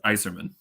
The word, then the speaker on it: Eiserman: forgot I I I well still Eiserman though right it's iserman ah they put the